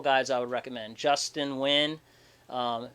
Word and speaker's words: Nguyen: i would recommend justin nguyen um spelled like nyen right uh n-g-y-u-e-n i'll post